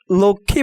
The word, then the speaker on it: লক্ষ্মী: লক্ষ্মী বানানে কয়ে মূর্ধন্য শ-এর সাথে তৃতীয় বর্ণ হিসেবে মফলা যুক্ত হওয়ায় মফলার উচ্চারণ হবে না।